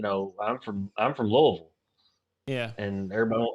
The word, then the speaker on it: Louisville: i'm from i'm from louisville yeah and everybody everybody calls it louisville and louisville and it's you can tell the people who live here because it's louisville that's what it is my town's the same